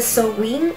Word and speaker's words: Samhain: nombre se ha equipado en cómo se escribe se dice son wind samuel está la versión